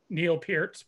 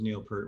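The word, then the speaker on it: Neil Peart: so it's i wonder whose name is more mispronounced uh yours by ed or neil pierce by everybody yeah cause forever i i think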